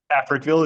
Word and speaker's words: Africville: We are talking about is it pronounced Africville? Africville is the name of the town.